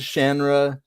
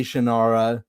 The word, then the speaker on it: Shannara: He says Shanra, all the fans say Shannara. I think Shannara sounds way better. Yeah, it does, and to me, the way it's spelled, I think it should be Shannara.